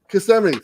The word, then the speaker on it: Kissimmee: toy at comic-con in kissimmee florida oh oh kissimmee kissemmi thank you so much that's how you say it everybody i've been saying it wrong this whole time autumnal but uh i'll